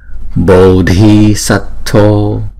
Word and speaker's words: Bodhisattva: ở bên trong của cái hàm răng á, đọc là tờ ha, tờ tờ. Tishtha, tishtha. Bodhisattva, bồ, chữ O là hai nhịp nè.